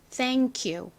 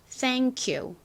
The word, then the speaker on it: thank you: 첫 번째 단어인 이 thank에서 끝 발음이 q, 크 발음이 나죠. 그리고 다음 단어는 you, 이렇게 단어가 이응으로 시작을 합니다. 이럴 경우에는 보통 끝에 있는 자음 소리랑 연결이 돼요. 그래서 크, 키읔 소리와 U 소리가 합쳐져서 Q와 같은 소리가 납니다. 그러니까 thank you 이렇게 발음하기보다 세련되게 발음하시려면 연결을 하셔서요.